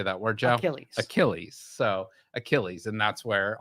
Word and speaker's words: Achilles: so he guessed mythological hero and then he's pronounced it achillis not correct obviously if you you have to get the correct pronunciation right so how would you correctly say that word Joe ailles Achilles so Achilles and that's where our Achilles fanatically